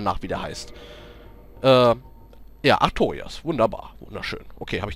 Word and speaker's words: Artorias: Ja, Artorias. Wunderbar. Wunderschön. Okay, habe ich doch nicht falsch ausgesprochen.